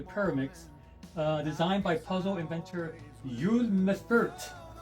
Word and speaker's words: Uwe Mèffert: puzzle called the Pyraminx, designed by puzzle inventor Uwe Mèffert. It's spelled U-V-E.